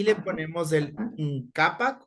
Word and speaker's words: -nkapak: ngapak o ngapak, como usted quiera pronunciar. Ngapak, yo pronuncio como que fuera la G de gato.